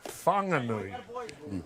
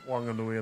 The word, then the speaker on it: Whanganui: So normally that would be pronounced Fanganui. However, the local Mai people of Wanganui and the Wanganui River Awa uh their dialect does not pronounce H's language.